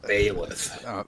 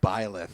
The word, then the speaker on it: Byleth: you're pronouncing it wrong. It's Byleth, not Bayleth. Byleth, excuse me, Byleth, There you go.